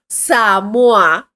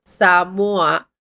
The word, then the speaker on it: Samoa: And the reason that I know that it's pronounced samua, right, is because we watch um 90day fiance and in 90day fiance there was a couple that came from Samoa and they would pronounce it that way.